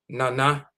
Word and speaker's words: nana: This is how it's pronounced. Nana, Nana.